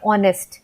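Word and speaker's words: honest: से तो यहां पे हेनरी या ऑनेस्ट नहीं बोलते हम बोलते हैं ऑनेस्ट है ना ऑनेस्ट की स्पेलिंग होती है हा ओ एन आई एस टी तो यहां पे हा जो है वो साइलेंट है हमें ऐसा लगता है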